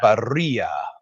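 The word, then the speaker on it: birria: Berea. Yep. I don't know if Cash my buddy's on tonight because he works seven days a week, but he says I pronounce it correctly. It's berea tacos.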